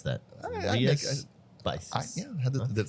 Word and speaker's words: Rías Baixas: And so I never knew how to pronounce that. Rías Baixas.